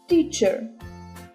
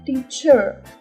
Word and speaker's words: teacher: слухайте в англійській мові наголос у словві найчастіше падає на перший склад розгляньмо кілька прикладів teacher а не teacher ма а не ма